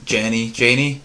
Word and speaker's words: Janney: I think that the scene at the end, it was great that Allison Janney, how do you say it?